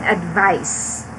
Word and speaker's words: advice: use of advice and advice okay aside from the pronunciation okay this one is pronounced with letter z and this one is pronounced with letter s okay so aside from